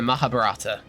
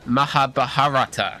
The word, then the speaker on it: Mahabharata: Depicted in the Mahabarata. That's not how you pronounce that. Let me try again. Depicted in the Mahabharata. There we go.